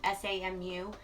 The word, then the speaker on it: Samu: I believe that's how it's pronounced, S-A-M-U.